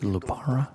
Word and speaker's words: lupara: When Frank sees a Lapara, he'll know. The old ways work. That's why you pronounce it Lupara.